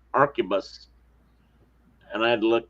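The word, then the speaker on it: arquebus: never say this right, Arcupus. And I had to look that up, that Q and U and all that combination sounds like a K. Archabus.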